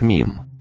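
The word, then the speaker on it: meme: Мем на английском произносится как мим.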